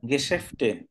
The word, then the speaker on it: Geschäfte: Hier gibt es mehr als 60 äh, এটার উচ্চারণ গেশেফটে, Geschäfte und Restaurant.